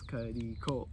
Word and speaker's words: Cudi Cole: I think you got the 3 syllables, Cuddy Cole.